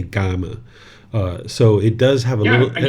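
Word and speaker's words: kamma: So people who study his teachings will usually say gama.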